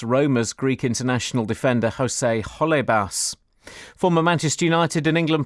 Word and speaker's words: Holebas: He pronounced Genoa properly, which some people have trouble with. The foreign man, though. What's Jose Halibas? Holebas.